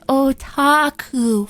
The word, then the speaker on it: otaku: I'm just imagining him being like, excuse me, no, it's otaku.